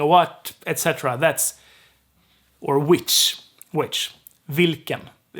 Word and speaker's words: vilken: The L gets dropped here. So we have vilken, because the I is short. The I is short, right? The syllable needs to be long. So if L gets dropped, the K has to be extended. So it's vilken. Vilken. It's a long K.